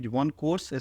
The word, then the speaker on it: OneKorse: So pronunciation is OneKorse, spelling you can see, and the theme is dedicated for online education and LMS system.